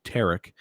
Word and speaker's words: Tariq: uh his given name his full name is tariq lenny tiedman and that is spelled t-a-r-i-q could also be tarik um but it's t-a-r-i-q and then middle name